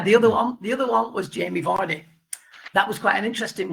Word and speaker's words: Vardy: Jamie Vardy, not Vardy, Vardy.